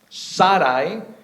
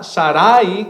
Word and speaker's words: Sarai: manera que se escribe el nombre de la esposa de Abraham Saray no es sar con acento en la i no es Sara Sarai con acento en la segunda a sino Sarai Saray y dice teniendo a Betel